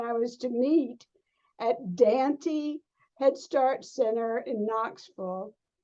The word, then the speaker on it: Dante: And I was to meet at Dante Head Start Center in Knoxville, not Dante, but Dante. We pronounced it differently.